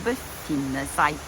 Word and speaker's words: befinne seg: trykket i ordet og i verbet å befinne seg er det den doble nen som er den lange lyden og der er altså trykket i ordet å befinne seg er måten å uttale det på videre sa jeg at dette